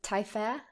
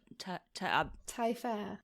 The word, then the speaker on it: Tailleferre: I'm just I'm so obsessed with Germaine Tailleferre.